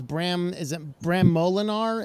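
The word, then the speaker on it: Bram Moolenaar: So first up is Bram Molinar? Is that the pronunciation?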